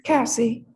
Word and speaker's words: Cassie: I'm sorry, Are you do you prefer me pronounce Cassie or Casey? Which one do you prefer? Cassie.